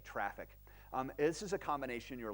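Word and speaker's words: Traefik: I'm sorry traffic and it's spelled tra e fi K and so could go Google it you're gonna end up with junipers network so it's TR AE fi K traffic this is a combination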